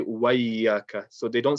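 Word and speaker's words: وإياك: So don't rush the alif and just join the waw to the ya immediately. Make sure you're saying wa iya, wa iya.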